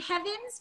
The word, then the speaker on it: Heavens: And is it Heavens? It's spelled like heaven.